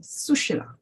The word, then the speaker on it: Sushila: think it's Facebook, that the stress is on the first syllabus, Sushila.